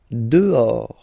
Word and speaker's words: Dehors: Dehors. Okay, so remember, final S not pronounced, and then this H in French doesn't exist phonetically, so you don't pronounce it.